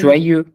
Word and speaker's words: joyeux: joyeux. Je suis joyeux. If I were We are like not all pronouncing e- the S in the end.